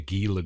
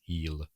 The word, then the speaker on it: Gila: But, uh, anyway, all my life I've called the Gila girl and I thought I'll look it up. Look it up and see how to pronounce a name. Apparently it's healer like healer monster I suppose which is a lizard.